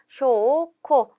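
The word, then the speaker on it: 証拠: 이때 증은 쇼라고 장음으로 읽었고 거는 코라고 읽는 것을 체크해 주세요. 그래서 쇼, 코 정답은 2번에 있죠.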